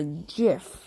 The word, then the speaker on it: GIF: Is it pronounced GIF or JIF? It's up to you.